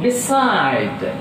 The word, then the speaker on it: beside: Now beside. Beside. B is a prefix, so that stress is on second syllable.